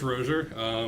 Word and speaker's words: Rozier: It's a French Ro- name like mine, and I still can't pronounce it. It's pronounced Rozier.